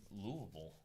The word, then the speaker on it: Louisville: I went to a parish in Louisville. Yeah, it's Yeah. like one word. Louisville. One All one syllables syllable.